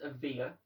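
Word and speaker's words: Evija: two brand new electric cars added the lotus avia which is how it's pronounced by the way and the porsche tycoon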